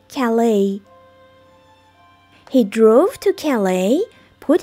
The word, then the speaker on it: Calais: و دقت کنید که استرس روی بخش دوم این کلمه هست. و تلفظش میشه Calais.